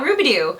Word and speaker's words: Rubidoux: this place called Mount Rubidoux pronunciation verified I have Ruby do and Ruby do I